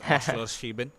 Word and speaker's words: Oschersleben: And yes, unlike you, I am an expert in pronouncing this track's name. It's Oschersleben, the Oschersleben GP.